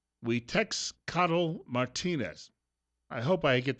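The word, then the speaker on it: Xiuhtezcatl: His first name is X, so I guess that would be, well, right, in Spanish. So it'd be Huitexcatl Martinez.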